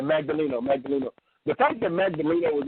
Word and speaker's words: Magdaleno: pronounce the guy's name, Malineo, or what's his name again? The guy down there, how you pronounce his name? Magdaleno. Yeah, Magdaleno.